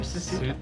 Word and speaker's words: Susato: Susato.